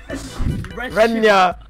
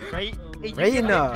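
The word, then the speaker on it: Reyna: Renya! Renya, dude! Nurusan! Renya, Renya! How do you spell it? Reina! Renya, mate, Renya! It's Reina, bro.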